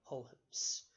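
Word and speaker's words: Huygens: about a fellow by the name of Christian hopes that name is spelled a little bit strangely hu Y G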